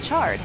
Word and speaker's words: chard: According to Merriam-Webster, chard is pronounced with a ch sound, like chocolate or choo-choo.